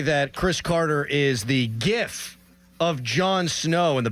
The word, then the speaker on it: GIF: I thought it was a GIF. I thought it was soft G. Oh. That was Here we go. Doran is correct. He said, here we The go. G stands for graphic.